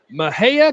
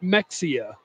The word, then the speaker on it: Mexia: Tolo from Mejia Texas just say Mejia correctly lol Mejia Mejia is that right I don't know thanks Gary Lawson I know it's not Mexia that's the way it's spelled I believe that I'm 40 I believe that yes I believe it is Mejia a big day for